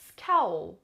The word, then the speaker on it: scowl: Scowl. دقت کنین، scowl. حالا بیاین let's count the syllables again. I have 2 vowels but because the vowels are together it'll be counted as only one syllable.